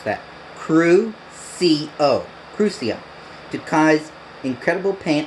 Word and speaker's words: Crucio: Let's pronounce that. Crucio.